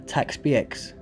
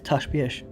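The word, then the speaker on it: Ta' Xbiex: Like that name up there, I was saying Taxbx or Takbx. It's Tashbx. Tashbx.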